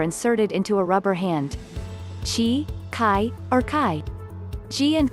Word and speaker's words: qi: the circulation of energy she pronounced chi throughout the body which